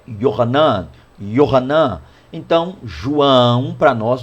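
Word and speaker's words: יוחנן: E na língua hebraica, né, o nome João é Yohanan.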